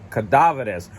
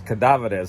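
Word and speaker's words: cadáveres: me it's yeah it's cadaverous oh it's he got mad because I I was trying to pronounce it uh in the English way but it's cadaveres so basically it means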